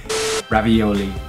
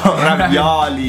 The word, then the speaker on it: ravioli: Ravioli. No! Ravioli. Ravioli. It's an open O.